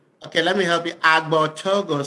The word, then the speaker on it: Agbortogo: Abigort. He g he you gave up after the second letter. Okay, let me help you. Abogo. So the first G is silent.